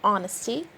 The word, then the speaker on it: honesty: and the answer is we have the h in honesty the g in campaign